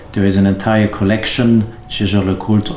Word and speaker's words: Jaeger-LeCoultre: There is an entire collection, Jaeger-LeCoultre or Jaeger-LeCoultre, if you don't pronounce it in a French way.